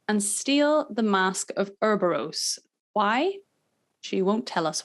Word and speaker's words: Ouroboros: I don't want to pronounce things wrongly, but Yennefer says it Ouroboros. Yeah, they say Ouroboros because it's something.